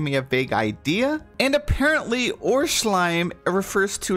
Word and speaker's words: Urschleim: I think it's German I think it's like or slime we're pretty close enough it's a giant slime